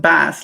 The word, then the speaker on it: Bass: Pronounced bass, like the fish.